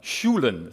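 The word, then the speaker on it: Sjoelen: This is a really important one, Schulen. So if you can pronounce that, you're all set.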